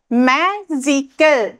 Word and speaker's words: magical: so magical magical okay we say the first syllable more strongly than the others see ইয়াত যেটুত আমি